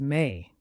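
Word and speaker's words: mai: May in French is May pronounced like the English word may it's a month of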